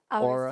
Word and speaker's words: Aura: Today, I have on Paola from Aura Studio and Cafe. How do you say it in Spanish? Aura. Aura. See, I say Aura. It's kind of the same, it's just the accent.